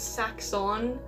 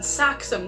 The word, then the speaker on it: Saxum: When I first heard it, I thought it was Saxon. It's hard to pronounce for me for some reason. Saxum. Now I'm used to it, but it took me a while.